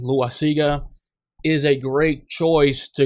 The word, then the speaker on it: Loaisiga: I mean, Loaisiga, people pronounce his name Loaisiga, is a great choice to experiment with.